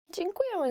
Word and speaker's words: Dziękuję: Dziękuję is just thank you, yet it's quite difficult to pronounce.